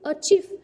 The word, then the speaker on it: achieve: Cô có achieve, achieve, động từ, trọng động từ có hai âm tiết, trọng âm rơi vào âm tiết thứ hai.